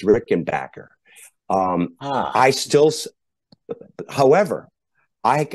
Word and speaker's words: Rickenbacker: um so some folks would say Robert you're pronouncing it wrong it's Rick and Backer and technically I guess that's true because Adolf did change his last name however ever uh I still say Rick and Boer uh whether I'm right or whether I'm wrong